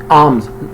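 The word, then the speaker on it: alms: ज़कात अदा करता है, आर्म्स में एल साइलेंट है, आर्म्स, खैरात करता है, एंड ऑल्सो परफॉर्म्स, और सर अंजाम देता है, हज भी देता है।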